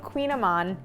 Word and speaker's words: Kouign-Amann: making a recipe that is as difficult to pronounce as it is to make it is called Queen Aman it is maybe the most delicious pastry I